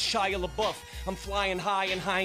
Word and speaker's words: Shia LaBeouf: And it's pronounced Shia LaBeouf.